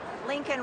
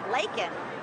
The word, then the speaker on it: Laken: at him and I said, say her name, Lincoln Riley, he picked up the pen and he had it right there. It's easy to read. Laken. But he said Lincoln Riley.